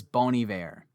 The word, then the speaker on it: Bon Iver: who bony there is isn't that bon iver i to say i want to say it like that i want to say bon iver because i feel like some wanna be like tryhard music person saying boney bear but no it is bony bear through and through yep